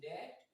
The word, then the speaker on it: debt: So we do not say the sound of B as in climb, as in debt, as in plumber, and so many words like this.